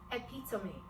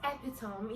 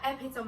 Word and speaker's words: epitome: Now this one, I think I ended up finding the right pronunciation when I was in 100 level in the university. It is epitome. Now I used to know it as epitome, you know, that epitome of beauty.